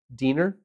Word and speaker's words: Dinner: Yeah, dinner. Well, it's pronounced Diner, D-I-N-N-E-R.